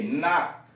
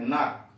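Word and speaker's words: knock: के साइलेंट, के एन ओ सी के, नाक, के यहां साइलेंट है, नाक, खटखटाना।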